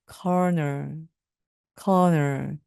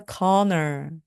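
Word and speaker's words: colonel: 있어서 발음을 컬이라고 마음 하기 굉장히 쉬운데요 corner입니다 corner corner 발음과 스펠링이 정말 다릅니다 그래서 그는 대령 님입니다 말씀하실 때 he is a conor he is a conor he is a conor입니다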